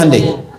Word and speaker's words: Hyundai: Hyundai kan dibacanya Hyundai.